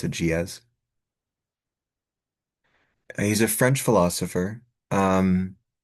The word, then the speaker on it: Gilles: G I L L E S but you pronounce it GZ.